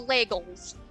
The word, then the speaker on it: legels: The legels. They rhyme with bagels, and it's just an L.